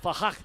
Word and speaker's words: F5R: That's F5R, but it's pronounced Fahak, and also V Chopper.